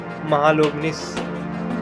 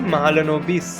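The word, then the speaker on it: Mahalanobis: ठीक है, पीसी महालोबनिस, पीसी महालनोबिस ये है।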